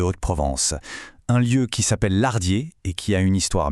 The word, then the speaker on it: Lardiers: On ne prononce pas le S à la fin. Non, c'est Lardier, mais on dit Lardier.